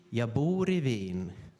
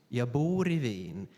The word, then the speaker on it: jag bor i Wien: but you speak it jag bor i Wien, jag bor i Wien. So you have to have a very long stress, and then you have to have very short syllables.